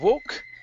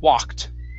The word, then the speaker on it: walk: uh last word here instead of walk it's wah open up your mouth a bit more for that ah sound walked walked walk there you